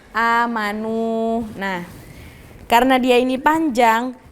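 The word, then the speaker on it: آمنوا: kalau kayak gini kan cara bacanya bukan yang amanu nggak kan Karena ada wau di sukun jadi dia panjang kan amanu Nah karena dia ini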